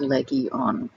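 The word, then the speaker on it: λεγιών: is a legion and because there's no word for it in greek it's actually spelled out phonetically my name is leggy on and remember what jesus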